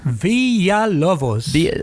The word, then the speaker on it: Villalobos: villa how do you say your last name villa lovos i can't you can say villa villa villa